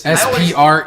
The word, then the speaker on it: Sprecher: Is that how you pronounce it? Sprecher. It seems right. It's Sprecher.